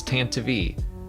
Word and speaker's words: Tantive: But the official pronunciation for it is Tantive, and it's only because of like the radio drama, I think.